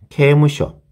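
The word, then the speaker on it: 刑務所: 주내 그 다음에 케무쇼 케무쇼가 되겠습니다. 여기에서 케에 우리말로 적으면 케에 그 다음에 케에 무쇼가 되겠습니다. 그래서 케무쇼 그죠? 요거는 장음이라서 앞에 발음에 모음이 따라오거든요. 그래서 케에가 되겠습니다.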